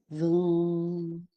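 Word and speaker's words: vam: Um, helps to remove negative energies and it's this seen seed mantra of voom and it's spelled va m but it says v u hm.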